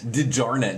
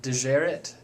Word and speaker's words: DeJarnett: how do you pronounce your last name dijarnet didjarnet does anyone ever mispronounce that i've heard everything from de geret uh yeah all kinds of mispronounces all right